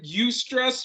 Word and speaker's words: eustress: in our lives and the stress is called eustress and i say it right right i stress we all stress yeah right yeah well you stress versus distress right uh you know